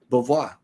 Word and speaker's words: Beauvoir: Beauvoir.